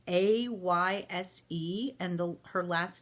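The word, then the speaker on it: Ayşe: Her name, and I'm probably not going to pronounce this first name right. I'm going to say Ice. It's Ayse, and her last name is Kulin.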